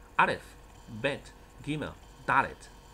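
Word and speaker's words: דלת: 来是一个字母叫做 Dalet 怎么写呢？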